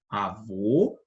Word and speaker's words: avô: direita o acento agudo Olha a diferença na pronúncia na primeira a gente tem avô e na segunda avó tá bom avô avó percebe a diferença então o circunflexo ele faz a que a palavra seja pronunciada a letra seja pronunciada dessa forma de uma forma mais interna tá sem muito esforço para